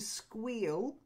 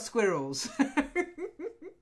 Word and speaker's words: squeal: next one is to squeal she squeals squeals squeals yeah not squirrels okay then the name